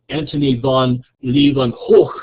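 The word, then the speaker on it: Antony van Leeuwenhoek: And Antony von Leeuwenhoek is how it's pronounced, who lived from 1632 to 1723, needed a methodology to decide the quality of the linens he was buying.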